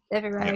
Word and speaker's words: Devereux: They were, the guy who was sort of, was it the head of blocking them in, was Robert Devereux, if I pronounced that correctly? Yeah. Devereux.